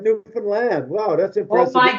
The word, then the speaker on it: Newfoundland: real stories you guys could and you even pronounce it right you said newfoundland wow that's important oh my god yes my